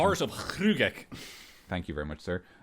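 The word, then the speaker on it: Hruggek: Would you do the pronunciation? Heart of Hrugek.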